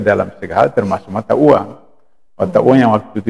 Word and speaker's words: oeang: Nah, ori sendiri atau uang Republik Indonesia. Kenapa O? Karena dulu ee sebelum ejaan lama ejaan lama itu O itu adalah OE. Nah, jadi oeang Republik Indonesia dibacanya uang itu juga ee merupakan